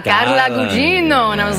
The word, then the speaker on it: Carla Gugino: And I was like, "No, Carla. It's Italian. Carla Gugino." And they went, "Oh, Carla. Carla Gugino."